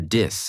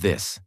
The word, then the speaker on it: this: Most people say tink instead of think or dis instead of this. So for 7 days, I focused only on that one sound.